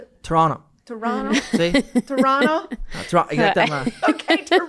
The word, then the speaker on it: Toronto: Pourquoi faut pas prononcer le deuxième T. Toronto. Toronto. Toronto. Exactement. OK, Toronto. Pas Toronto.